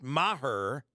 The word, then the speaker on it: Maher: kicker there's no question Chuck May her is uh I think it's her yeah that's how they're pronouncing it uh Brett Maher missed four extra points